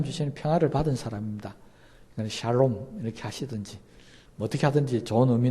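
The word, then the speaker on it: שלום: 우리는 안녕하세요 하지만 그들은 샬롬 이렇게 표현합니다 발음을 잘 하셔야 됩니다 이걸 잘못 하면 우리나라 사람들이 발음할 때 잘하셔야 되요 이게 잘못은 살롬 이 되고 죽을 놈이 적어 이렇게 됩니다 저는 이런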